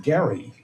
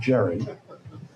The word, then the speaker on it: Gerry: And you told me to pronounce it Gary and not Jerry.